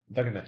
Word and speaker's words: Wegener: Pronounced Paul Wegener? Yeah. Wegener, yeah.